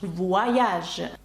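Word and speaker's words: voyage: звук уа пахфа таке слово як вяж Подорож ваяж зараз коли ви бачите це слово вам зрозуміліше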